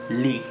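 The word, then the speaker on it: lis: So it will change, the verb will change to lit, just lit. And yeah, so lit. So it's L-I-S, and remember about the S, you don't pronounce it.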